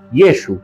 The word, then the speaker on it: Yeshu: Se sabe que los galileos no diferenciaban entre los sonidos de la letra Ain y Aleph, lo que podría haber llevado a que el nombre de Jesús en su entorno familiar y social se pronunciara Yeshu. Esta forma abreviada es más simple y refleja la pronunciación natural en la región de Galilea, donde Jesús creció y desarrolló su ministerio.